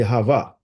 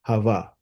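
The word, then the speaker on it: חוה: It's really Hava. Eve is just, and that's another story, but Eve is just the Englishized version of that name, Hava.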